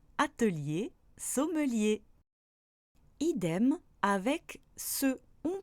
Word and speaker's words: atelier: Peu importe cette fois sa place dans le mot, on prononce toujours le E devant les sons li, ri, mi, ni, comme dans atelier, sommelier.